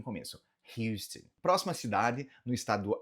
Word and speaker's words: Houston: De forma geral, Houston. Pronuncie esse H aqui no começo. Houston.